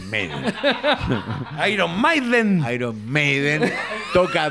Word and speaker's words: Maiden: viene Iron Maiden no no se dice Maiden se dice meiden Iron Maiden Iron Maiden